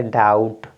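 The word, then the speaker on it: doubt: date क्या पढ़ेंगे date next देखिए क्या है बी के जस्ट बाद टी है तो बी साइलेंट हो गया आपका तो आप पढ़ेंगे डाउट क्या है ये आपका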